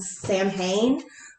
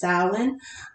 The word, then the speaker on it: Samhain: ends with salon uh you might have seen it called samhain uh the actual pronunciation is stylin um and that's pretty